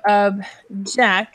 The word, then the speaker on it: object: now you have the verb is object so of Jack like object sorry let's write that again object